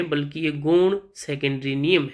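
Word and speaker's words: Jung: तो इसका बिल्कुल सही आंसर होगा कार्ल यूंग, जिसे प्रोनाउंस करते हैं हम।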